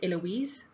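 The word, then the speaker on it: Heloise: an assumption for instance my name is eloise with a silent h and i do appreciate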